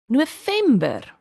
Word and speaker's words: November: November. November. Remember that when you want to say the V in Afrikaans, you are going to treat it as the F. The F. It's the same sound.